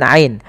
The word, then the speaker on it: ع: وجعلنا نومكم سباتا وجعلنا Ain, hati-hati dalam pelafalan ain, jangan waja'alna, jangan hamzah, atau jangan waja'alna masuk ke rongga hidung, tapi dia Bagaimana? Dari tengah tenggorokan kita lafalkan ain.